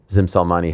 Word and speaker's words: Gzim Selmani: Here he is, the man you just saw on camera, Gzim Selmani.